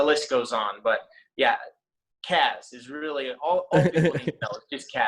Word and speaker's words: Kaz: i get i get cause i get uh kaz i've gotten kazoo before cashew and my last name people find 100 ways to mispronounce too but uh yeah chasmanian devil has